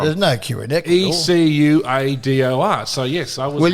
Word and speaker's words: Ecuador: E C U A D O R. So yes, I was Well, you had the spelling wrong, but just the pronunciation incorrect. Correct. It's not Ucador.